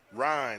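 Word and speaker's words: Ryne Sandberg: Ryan, R-Y-N-E. Ryan Sandberger. One syllable. Ryan Buffalo? Sandberger, just like the hamburger.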